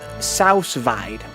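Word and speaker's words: sous vide: So someone says he's pretty sure it's pronounced Sousvide. Sooviday. Sousvide.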